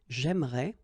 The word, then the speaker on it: j'aimerais: the same thing, because even if you get this here and here, you don't pronounce it. So it will go like j'aimerais, or then j'aimerais. Remember, phonetically they are the same.